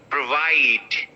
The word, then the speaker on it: provide: Provide. Okay. So I'll break it from here. And here you're going to stress the second syllable.